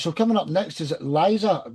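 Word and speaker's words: Lise: So coming up next is Liza. She say Lisa, but it's spelled L I S E Edwards from Norway.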